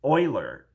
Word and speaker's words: Euler: spelled like Euler so uh but it's apparently pronounced Euler but that's Euler's equation that uh to interfering